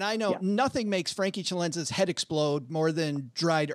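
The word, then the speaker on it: Celenza: I like that pronunciation of my last name. Tell me if we can't, well, I got to do the Italian. I got to, Chalenza.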